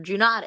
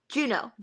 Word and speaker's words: Juneau: Juneau pronounced. Okay, Juneau Acres. Yep. So I am without the D.